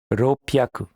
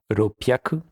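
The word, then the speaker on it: 六百: Voici pour la prononciation des centaines. Hyaku, ni hyaku, sanbyaku, yon hyaku, go hyaku, ropyaku, nana hyaku, hapyaku, kyu hyaku.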